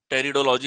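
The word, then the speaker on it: pteridology: क्या हो जाता है, टेरिडोलॉजी हमारे पास में हो जाता है। ये देखो इनके पी साइलेंट हैं कई जगह।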